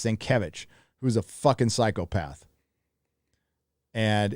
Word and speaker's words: Sienkiewicz: I used to call him Sankowitz. I didn't know how to say his last name, so it was Bill Sankowitz for forever. But it's Sienkiewicz, who's a fucking psychopath.